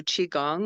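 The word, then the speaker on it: qigong: in like the worst mood and I do chiong which is spelled Qi g o n g for beginners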